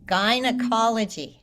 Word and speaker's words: gynecology: don't know if in British English they say it differently, but we say guy like a guy, a person, a man. It's the And same gynecology? pronunciation. Gynecology.